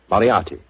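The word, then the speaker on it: Moriarty: I'm afraid I'll have to begin calling it the way it looks. M O R I A R T Y. Moriati. Moriati. I shall remember that name.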